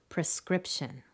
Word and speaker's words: prescription: example prescription prescription prescription clearly it's the second prescription once you confirm the correct pronunciation keep a running list of your challenge